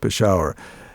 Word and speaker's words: Peshawar: And I used the word, as you and I, as people pronounce it, we pronounce it in the West, Peshawar.